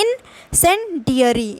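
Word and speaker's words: incendiary: ठीक है, इंसेंडियरी इसका मतलब होता है, देखिए इसको पढ़ तो लेंगे ना आप, इन फिर आपको बोलना है सेन, फिर डैश करके डियरी, इंसेंडियरी। अब इसको एक साथ पढ़ेंगे, इंसेंडियरी।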